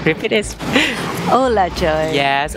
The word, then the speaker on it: u là trời: The popular ones is "Oh my God" in America, but in Vietnamese we say that "Ô là trời." Ô là trời. Repeat this. Ô là trời.